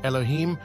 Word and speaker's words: Elohim: and the scriptural words God l h eim pronounced Elohim LH LH H is a passive plural in